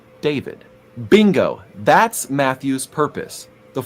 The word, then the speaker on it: David: David. Dawid, which is the Hebrew pronunciation for the name we English speakers call David.